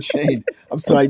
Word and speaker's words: Chene: M Cafe in Ferndale John chane don't don't mix me up with Cheney I'm sorry John Shan I'm sorry so this is John Shane I'm sorry I mispronounce